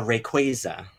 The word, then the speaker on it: Rayquaza: I got Rayquaza. I got Now, is seven that of how you them.